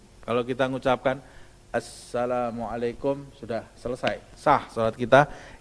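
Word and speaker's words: السلام عليكم: pada minimal Ucapan salam tasydidnya hanya satu yaitu di atas huruf pada kata Assalamualaikum kalau kita mengucapkan Assalamualaikum sudah selesai sah Salat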